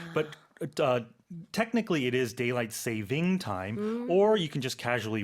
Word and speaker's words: daylight saving time: expression itself a lot of native speakers incorrectly pronounce it they say daylight savings time but uh technically it is daylight saving time or you can just casually refer to it